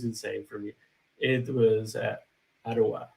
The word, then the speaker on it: Ottawa: have this concept of different sounds for different syllables, right? So so for me, I was saying all the time Ottawa, right? Close Ottawa, enough. which I but when people were saying like Ottawa, I was like Iowa.